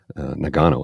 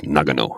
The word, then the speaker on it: Nagano: somebody said he says the announcers are saying it incorrectly. They keep saying Nagano, and it's Nagano. I'm like, really? Nagano. I go, yeah, that actually makes sense.